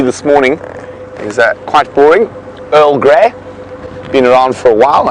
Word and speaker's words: Earl Grey: with the pronunciation of Earl Grey, so it was known to us for many years and still quite often called by us, instead of Earl Grey, it's called Early Grey.